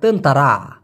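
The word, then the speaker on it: tentera: টি ই আর এ এই টি কে ওরা ত এর মত উচ্চারণ করে বিধায় এখানে তেনতেরা হয়েছে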